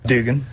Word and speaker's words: Dugan: Is it Duggan or Dugan? Dugan.